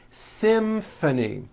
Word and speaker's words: symphony: It's the same thing in this next word, symphony. This is a tricky one because you've got the M sound followed by an F sound.